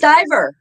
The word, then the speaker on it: Stiver: Stiver. It rhymes with Holy Diver.